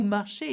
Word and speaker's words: marchez: Marcher, walk, as in vous marchez, you walk.